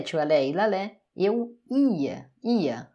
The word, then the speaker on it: ia: Verbo ir, j'allais, tu allais, il allait, eu ia. A sílaba tônica é realmente o i, tá? O i aqui sozinho, ele é uma sílaba tônica.